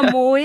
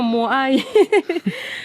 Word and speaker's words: moai: où étaient sculptés les moai, ces géants de pierre qu'on appelle moai. Je spécifie bien moai parce que j'entends des fois moé, je dis non moai.